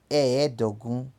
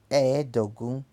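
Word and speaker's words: ẹ́ẹ̀dógún: E vai ficar eedogum, eedogum, é 15.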